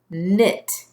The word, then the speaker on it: knit: you'll write the word your first word is knit if I will knit you a sweater say